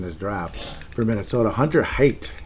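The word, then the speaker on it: Haight: top picks in this draft for Minnesota hunter hate hate and I'm pronouncing it correctly it's with a h AI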